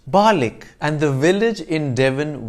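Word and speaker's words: Barnoldswick: town in lancashire that you might think is pronounced barnald's wick based on its spelling is actually pronounced balik and the village in devon which looks like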